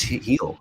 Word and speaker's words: Gil: louise heal i was like his name is pronounced apparently and he just i've been calling him gill all year it's he'll yeah yeah yeah i know right but uh